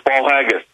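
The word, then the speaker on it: Paul Haggis: I'm pronouncing that Paul haggus I think I'm pronouncing that right uh Mr Miller it is it's Paul haggus fantastic uh listen so much to go over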